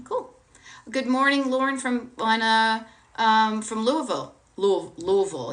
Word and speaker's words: Louisville: Good morning, Lauren from Louisville. Louisville. Is that how you say it? Not Louisville, but Louisville. Kind of like Lancaster, PA, Lancaster.